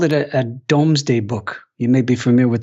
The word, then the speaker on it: Domesday: i called it a domesday book you may be familiar with the reference uh it's mispronounced often as doomsday book that's not what it